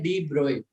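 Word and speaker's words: de Broglie: जब भी ये पहली बार वर्ड यूज हुआ है ना उसके ब्रैकेट में लिखा हुआ है प्रोनाउंस्ड एज और से एज, ऐसा लिखा हुआ है डी ब्रोए, ब्रोग। तो इसको क्या बोलते हैं, डी ब्रोए।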